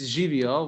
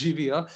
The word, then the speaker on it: živijo: Anyway, it's živijo. We have a native Slovenian speaker here. You can trust me. It's pronounced živijo, and yeah, it's a beautiful word.